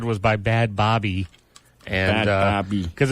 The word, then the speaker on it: Bhad Bhabie: played a song that we said was by bad Bobby and because it's spelled BH a DBH a bie of anybody